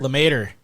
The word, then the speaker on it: LeMaitre: say his name again lemaitre the mater like tater tot yeah it's that's what